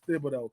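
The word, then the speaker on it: Thibodeaux: What you mean it ends with an X?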